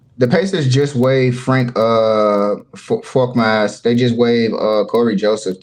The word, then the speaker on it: Korkmaz: Oh, you said it right, Frank Korkmaz.